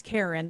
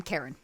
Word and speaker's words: Karen: It's Karen. That's how you pronounce it, right? Yes. Okay. Yes, like a white woman, Karen.